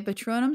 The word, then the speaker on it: Patronum: uh that is okay patronum sounds like uh tequila like that one bran like uh yeah it sounds like patron but i imagine it